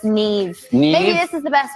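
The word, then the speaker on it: Niamh: sersa that's Sara does anyone know here to pronounce that in the audience T TIG TIG yeah KN what Neeve but it's Neeve maybe this is the best way to get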